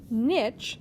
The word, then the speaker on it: niche: Niche, sometimes pronounced niche, but more commonly in biology in the U.S.